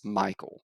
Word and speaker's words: Mikel: keyed up he's like it's michael it's m-i-k-e-l so it's like this